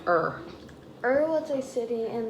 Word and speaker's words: Ur: That's pronounced Ur.